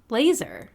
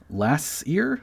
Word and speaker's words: laser: Scuba and laser. That's right. And I'd wager that pretty much everyone pronounces them that way.